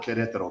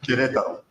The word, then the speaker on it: Querétaro: And the other one, how do you say it, Warren? Querétaro. I can't say it. Querétaro. Querétaro. Querétaro.